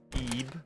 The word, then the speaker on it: Ib: it lb or IB it's IB but apparently it's pronounced e because it's Japanese or something at least that's what